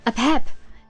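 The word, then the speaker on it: Apep: A pep like a peppermint.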